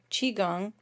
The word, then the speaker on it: Qigong: I found out how to pronounce it from the instructor. Qigong class today.